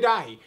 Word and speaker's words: Dahi: make sure i'm saying it right yes dj dahi although plus a whole bunch of other side